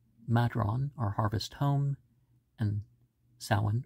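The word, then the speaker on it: Samhain: or harvest home and sowan are also um or Sam Hain as some people are going to promote pronounce it but I guess at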